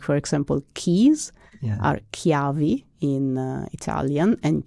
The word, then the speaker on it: ciavi: So usually when there is a CH in Italian, it's a hard K. But in dialect, we don't do that. We do have hard sounds in other words, but CH becomes soft in Veneto.